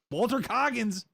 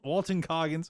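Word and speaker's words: Walton Goggins: TV show Fallout TV show it looks good Walter cogins yep wal Walton Coggins I always say his name wrong I don't care yeah not so sure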